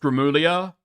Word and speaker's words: Gramuglia: Because his name is pronounced Grimlia.